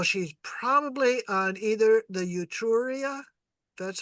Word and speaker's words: Etruria: So she's probably on either the Etruria, that's how that's pronounced, or the Gallia.